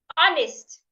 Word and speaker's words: honest: Another example is honest. The h is silent. Do not pronounce it.